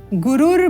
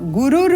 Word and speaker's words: गुरुर: पद में पदेन है तो यहां हमें ध्यान किस चीज का देना है कि रू के साथ उच्चारण करना है इस रेफ का उच्चारण यह आपको ध्यान देना है और तीनों ही पदों में एक ही प्रकार की त्रुटि और इस त्रुटि का निवारण करना है गुरु ना बोलकर गुरुर ब्रह्मा गुरु गु विष्णु गुरुर